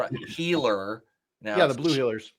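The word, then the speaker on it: Heeler: Because their last name is pronounced Healer.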